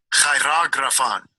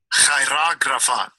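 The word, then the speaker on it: χειρόγραφον: Vamos a escuchar cómo se pronuncia. Strong's G 5498, Chirografon. Chirografon. Ok, así se pronuncia la palabra acta.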